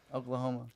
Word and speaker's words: Oklahoma: Oklahoma. Yeah, that's fair. Rhymes with glaucoma.